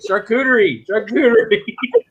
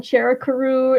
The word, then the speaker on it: charcuterie: I'm like charcuterie. Couldn't pronounce it for the life of me. I was saying charakaroo. I don't know what I was saying, but it wasn't the word.